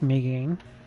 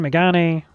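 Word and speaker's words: Mégane: upgrades on the mean I think it's pronounced Megan I've had people tell me different things so Megan mean I don't know we don't use that symbol in the English language so I don't know what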